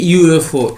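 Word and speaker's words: UFO: সি নম্বরটা ঠিক আছে আবার এবার হচ্ছে এ ইউএফও এ ইউএফও কেন হচ্ছে এ ইউএফও হচ্ছে এখানে উচ্চারণটা হচ্ছে ইউ এফও ইউ মানে ওয়াই ও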